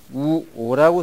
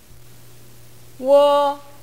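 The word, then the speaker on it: wo: 이걸 보시면 우오라고 써 있지만 우오 이렇게 발음되지는 않습니다. 선생님 발음을 직접 들어보시겠습니다. 워, 워. 네, 들어보시면 아시겠지만 우와 오가 나오면 우어 하는 식으로 발음이 됩니다.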